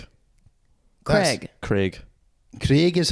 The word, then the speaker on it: Craig: Wait, how do you pronounce Craig. it? Craig.